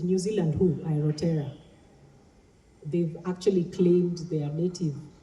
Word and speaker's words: Aotearoa: Is that how it's pronounced? Because now they've said New Zealand who? Aotearoa.